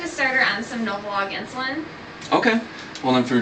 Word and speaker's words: Novolog: Okay, that was Novolin? Nope, actually not Novolin. I want Novolog.